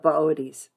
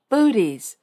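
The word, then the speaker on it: Boötes: in the lap of booties if you saw his name spelled out you'd want to pronounce it booties but it's booties at this time of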